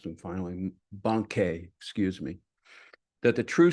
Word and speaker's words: Bankei: Linji is making that same suggestion as Bankei. Oh, I mispronounced them finally. Bankei, excuse me.